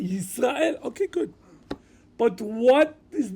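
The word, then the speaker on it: ישראל: One pronounced Yaakov, good, and one pronounced Yisrael, okay, good.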